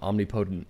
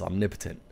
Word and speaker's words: omnipotent: that I've been living life I've actually been pronouncing omnipotent incorrectly it's omnipotent so I must have sounded like an idiot